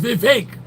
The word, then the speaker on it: Vivek: is be fake rhymes with cake the uh post-trump Antichrist